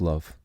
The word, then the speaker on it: love: word love is that the O is pronounced like a u it's written as if